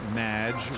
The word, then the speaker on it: Madge: have mispronounced my name it's madge which rhymes with badge uh as in duh